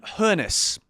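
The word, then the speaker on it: Hoeneß: as a Chelsea manager Sebastian hes I believe that is is the pronunciation is the stutgart manager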